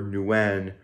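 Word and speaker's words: Nguyen: personally on Instagram at underscore T underscore Nuen which is spelled ng-u-y-e-n and if you're wondering you can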